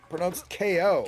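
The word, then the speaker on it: Kao: Okay, so apparently pronounced KO. Well, KO, point yeah, of order. obviously. Not cow.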